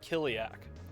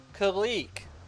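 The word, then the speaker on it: Kileak: For years, I'd seen this game on the lists, but didn't know how to pronounce the name, so I just called it Kiliak for so long. Sure. Until I booted it up as part of my blogging project. It's like, oh, Kalik. That makes more sense.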